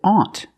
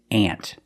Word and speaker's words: aunt: that's your aunt too they're pronounced exactly the same use the short a sound ant and when we